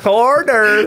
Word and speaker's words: hors d'oeuvres: Hors d'oeuvres. Oh, he said that with the correct pronunciation.